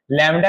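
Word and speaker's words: lambda: Clear है, और इसको डिनोट किया जाता है इस तरह से लैम्डा से, और यहाँ पर ए लग जाएगा, ए है, इसको लैम्डा इसका उच्चारण किया जाता है।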